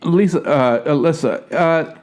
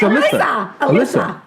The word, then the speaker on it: Alisa: Alyssa, if I could jump in. Did I say it right? It's Alysa. Just keep thinking Lisa. Just Lisa with an A.